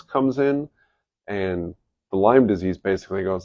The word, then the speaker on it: Lyme disease: It's Lyme disease. It is not Lime's disease. Lime does not own the disease. It's not multiple limes and it is spelled with a Y, not an I. Cuz it's not a citrus fruit.